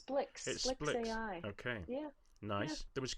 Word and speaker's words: SPLX AI: I asked Yeah I asked someone how to pronounce I think it's Splicks AI really even though it's SPLX. SPLX. Okay, but it's Splicks AI.